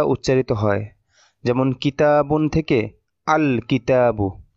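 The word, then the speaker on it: الكتاب: যেমন কিতাবুন থেকে আল কিতাবু আক কিতাবু এরকম হবে না। আল কিতাবু লামটা স্পষ্ট এবং আলাদাভাবে উচ্চারিত হবে।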